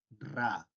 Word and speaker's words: Ra: Herederos los de todavía la tradición egipcia se pronuncia así ra este trinche que está acá parece una m